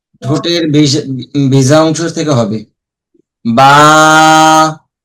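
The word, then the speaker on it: باء: অনেক হরফ আছে পাশাপাশি উচ্চারণ, হালকা অল্প কিছু পার্থক্য, এগুলো পার্থক্য বোঝার জন্য সম্পূর্ণ মনোযোগী হতে হবে।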